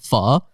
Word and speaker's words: pho: in full I'm like first of all it's pronounced F and and second of